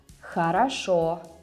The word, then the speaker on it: хорошо: When O is stressed, you read it as O. And when it's not, you read it as A, like in the word хорошо.